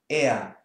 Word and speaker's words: er: So this we pronounce er. There's no R, no whatsoever. It's just er.